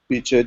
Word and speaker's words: Bice: I think the emphasis is also on the second syllable for the first name, so it's Taddea Biche de Merlino.